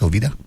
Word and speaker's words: Jovita: Isn't J pronounced H, Jovita?